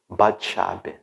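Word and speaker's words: בת שבע: chamada pet Sara sabe é um nome que é pronuncia esse hebraico bate sabe bate-chave essa parte chave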